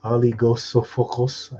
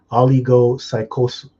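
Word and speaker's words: ὀλιγόψυχος: Oligosophocos. I can't pronounce it. Oh, oligopsychos.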